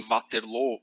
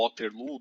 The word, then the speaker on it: Waterloo: ele é finalmente derrotado em Waterloo ou Waterloo, dependendo da pronúncia que você escolher para o nome da cidade.